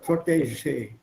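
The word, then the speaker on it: protégé: It's a French word, so pronounce that je, P-R-O-T-E-G-E. E with an accent, G, E again with an accent. Protege. What accent liegt auf der ersten Silbe? Protege, not protege. Protege.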